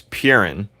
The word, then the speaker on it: Perun: Coolio, how do you pronounce it? His name's Purin, if that's what you're asking.